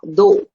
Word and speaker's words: though: Though. What rhymes with though? The words do and although. All these words rhyme with go.